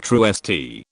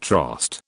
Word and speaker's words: Troost: For example, Troost, pronounced locally like Truest, not Trost.